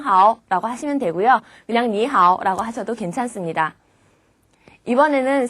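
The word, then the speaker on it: 你好: 인사말이 됩니다 자 그런데 발음을 하실 때 방금 말한 것처럼 니 하 이렇게 하시면요 우리말로 할 때 안녕 하세요처럼 늘어져요 안녕하세요처럼 짧게 얘기해 볼까요 니하 니하네 이렇게 발음하시면 됩니다 누군가가 나에게 니라고 인사를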